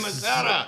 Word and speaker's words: Missouri: They said, that's how you say it, boy, Missouri.